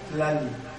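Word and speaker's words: tlalli: Y cuando en mexicano se hallen, se han de pronunciar como en latín, villa, villa. Sí. Verbigracia, vidi. Cementera, tlali, tierra.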